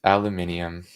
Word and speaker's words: aluminium: did you say yes aluminium the way that it's supposed to be pronounced sorry to interrupt Alex